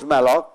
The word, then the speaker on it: malloc: So it is pronounced malloc, but memory allocate means please allocate so much memory to me.